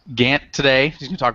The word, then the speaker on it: Gant: So we have, is it Gant, correct? Is that how you pronounce it? Yes, that is correct. Gant today, he's going to talk about React Native,